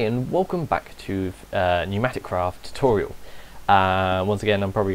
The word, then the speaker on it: PneumaticCraft: wrong while recording but it is called pneumatic craft even though it's spelt with a P so that's how you